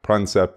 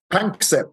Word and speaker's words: Panksepp: And of course, heavily influenced by your friend and colleague Jack Pransep as well. Is that, do I say his name right there, Mark? Panksepp, yes.